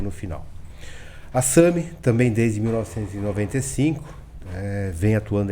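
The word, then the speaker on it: SAMHI: A SAMI, também desde 1995, vem atuando aí no mercado de facilities.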